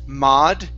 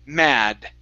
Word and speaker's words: mad: So, here you said mod using an a sound. This is an ah. So, mad.